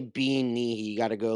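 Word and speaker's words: bean nighe: Banshee, spelled Bean Nye. Bill Nye? Bill Nye the Science Guy? Bean Nihi. Bean Nye the Scottish guy. Scottish rules. Also, you can't just say Bean Nihi.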